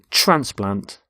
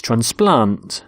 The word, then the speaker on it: transplant: both nouns and verbs we stress the first syllable in a noun and the second in a verb so the noun is transplant so a heart transplant but with a verb it's transplant so the doctor transplants hearts and here you can